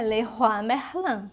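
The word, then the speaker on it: Leroy Merlin: Aqui eles pronunciam de um outro modo, mas se você for pronunciar o nome correto, como é nome, é Leerois Merlan. né? Porque é uma loja francesa.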